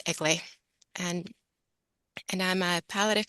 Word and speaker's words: Eglee: it's a long story it's a Greek name um it's pronounced elay and and I'm a palative physician in Calgary Alberta Canada and most importantly I'm a logootherapy student under Dr.